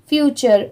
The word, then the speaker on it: future: इसकी प्रोनाउंसिएशन है फ्यूचर, फ्यूचर। Okay, यहाँ पर टी की साउंड ट की नहीं आ रही है, च की आ रही है।